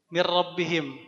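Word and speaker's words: مِنْ رَبِّهِمْ: Maka ketika ketemu kata seperti ini, karena bila gunnah bacanya mir rabbihim. Hanya dilebur saja nun sukunnya ke ra.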